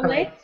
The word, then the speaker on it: chocolate: Chocolate. But it's chocolate. Chocolate. Yeah, exactly. It's the same idea, where that one letter is silent.